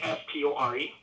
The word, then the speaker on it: Castore: This is the first year of their contract, and that company is called Castor or Castori or Castore. I don't know how it's pronounced. It's Castore.